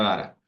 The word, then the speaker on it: data: datata Big Data Perdón no se pronuncia deita se pronuncia dara ya este curso se